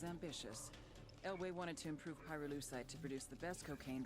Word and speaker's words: pyrolusite: You know what pyrolusite is, right? Yeah. No. Neither did I. Pyrolusite, key syllable pyro, by the way, is